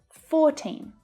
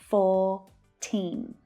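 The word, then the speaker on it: fourteen: 14. Again, you don't hear the R in my accent. 14, 14. And the T can sound like a flap T.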